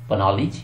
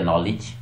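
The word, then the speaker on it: knowledge: जैसे के एन ओ डब्ल्यू एल ई डी जी ई, क्या बना, पनॉलिज या नॉलेज, यस, नॉलेज, ठीक है।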